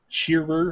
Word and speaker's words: Shearer: Did Stitch pronounce that right? Yeah, sure. Shearer, and sure.